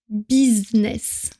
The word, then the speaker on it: business: Si on le prononce à la française, on va dire business. Et ensuite, comme d'habitude, on raccourcit les mots, donc on garde simplement bise.